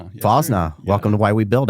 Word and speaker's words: Fosnaugh: Uh so Doug Fosna Fosna Fosna, welcome to Why We Build episode two.